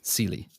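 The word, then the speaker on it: Celie: silly sely sely sely like like s Celia without the yeah cely yeah yeah yeah I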